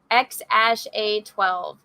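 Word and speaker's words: X Æ A-12: Joe Rogan experienced podcasters of the name is pronounced X - a 12 X a sh a 12 they named their child X a 12 and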